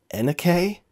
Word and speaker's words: NUK: case and how much is that wow you Nook guys are really running a racket what's that it's pronounced Anna k what the just by the ones you see